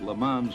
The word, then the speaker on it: Le Mans: road race safari and le mans models the s on the end should be silent and as some of